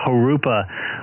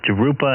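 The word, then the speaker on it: Jurupa: hobby it's funny that the truckers on the uh cb used to try to pronounce uh harupa uh off the 15 in between the uh 16 to in the 10. they called it to rupa and everything else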